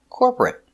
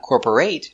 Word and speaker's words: corporate: Two syllables. Not three. Not corporate. Two. Corporate. Corporate. Stress on the first syllable.